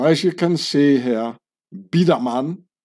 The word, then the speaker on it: Biedermann: you can see here bidaman so I pronounce it in the Swiss German way is a Swiss German